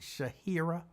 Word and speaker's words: Shahira: See, you can't go by the way it's spelled, because the spelling of her name is just jacked up as opposed to the pronunciation. It don't match. It don't match. So you got to look at the Cash App, Shahira, which is really Shahira, but she pronounces that I as the A.